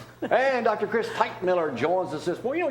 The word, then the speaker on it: Teichmiller: Typewriter, popsicle, Teichmiller.